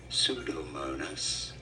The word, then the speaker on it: Pseudomonas: Pseudomonas. Yes, the P is silent.